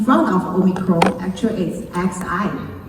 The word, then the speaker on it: Xi: But I want to ask people, the matter because in front of Omicron actually is XI. In China we call it Xi. The same pronunciation is as Chairman Xi Jinping. So where is the Xi variant?